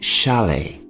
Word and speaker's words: chalet: A similar type of house is called a chalet. The T here at the end of the word is silent. Chalet.